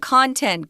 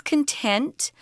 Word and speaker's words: content: This isn't content, guys. This is content, where you're satisfied with something.